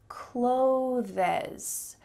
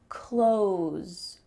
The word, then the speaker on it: clothes: But in reality, when English speakers are talking quickly, we're just going to use the same pronunciation as the verb, close the door. Close, close. There's not even a TH in this word.